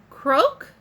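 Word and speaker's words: Croque: designer again i got croak then that's how you say his name number 330 and again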